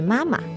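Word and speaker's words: 妈妈: Properly in Chinese, the pronunciation is supposed to be mama. So the second tone is actually a light tone.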